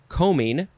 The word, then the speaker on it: combing: you would pronounce it coming so it's like the comb that you put in your hair with an ing c-o-m-b-i-n-g it is a